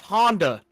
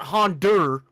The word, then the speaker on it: Honda: yeah that being said it's pronounced Honda not hondur all right that's all